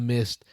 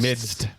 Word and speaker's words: midst: I really am glad that we're in the midst of a camp. Is that how you say it? Yeah. There's a D in there, though. It's not just midst. Midst. Yeah. Midst.